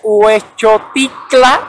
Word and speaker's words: Huexotitla: vez es nice es conocida como la colonia huexotitla puesto cicla o para pronunciarlo de manera más correcta es un hecho titular a mí a veces se me complican este